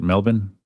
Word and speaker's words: Melbourne: It's pronounced Melbourne, right? That's the way that Australians say it. Melbourne.